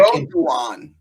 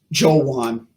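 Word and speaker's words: Joejuan: Jawan. No, it's pronounced Jawan.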